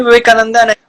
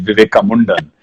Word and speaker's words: Vivekananda: And Swami Vivekananda, unless he heard Donald Trump pronounce his name the way he did, Vivekamundan, which gave me all